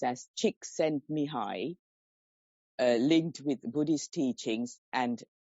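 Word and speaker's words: Csikszentmihalyi: couldn't get that name right pronounced as oh pronounced as chick sent me high linked with Buddhist teachings and abhidham Venable bante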